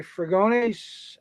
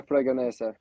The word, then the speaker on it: Fragonese: Andre Fragones, and John Fragones. 5 on the grid and 2 DNS. Did I say it wrong? That's one of my main sponsors, Andrea Fragonese. So I didn't screw it up too bad.